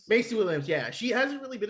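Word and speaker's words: Maisie Williams: Mace Williams, is that how you pronounce her name? Macy Williams, yeah.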